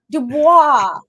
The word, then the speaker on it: Dubois: Dubois. Dubois. It's yes. It's very French, and I'm Very Frenchy. That's right. it's really it's not even supposed to be pronounced with a D. It's Dubois. That's how you really pronounce it.